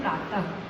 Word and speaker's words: प्रातः: जैसे आप लोग पढ़ते हैं प्रातः, अब इस बिंदु को आप हा के बिना पढ़ ही नहीं सकते, हा जैसा इसका उच्चारण होगा।